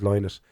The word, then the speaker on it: Lynott: lot of time to say my name is lonus I'm not aboard you know un fairness to